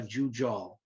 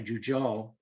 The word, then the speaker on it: Jujol: The balconies were actually designed by Joseph Maria Jujol. And I know in Spanish, the J is an H, but actually I looked it up, and in Catalan, you actually pronounce the J.